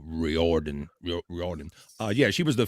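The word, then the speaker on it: O'Riordan: how do you say this dores o riordon Riordan uh yeah she was the famous singer of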